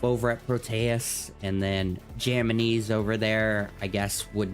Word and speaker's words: JAMMINIZ: Yeah, JAMMINIZ. How do you actually pronounce that? JAMMINIZ.